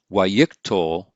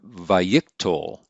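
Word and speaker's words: wayyiqtol: and we pronounce that waikikto or vayiktol notice that the accent is pulled back to the pre-tonic syllable and normally we call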